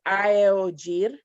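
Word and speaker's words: aeojir: For example, the word for T in Atlanteo is aeogir. It's a, e, o, j, i, r. So every letter is pronounced separately.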